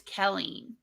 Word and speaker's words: Kelleen: Okay, the A is silent. It's Kelleen. It's, Helene?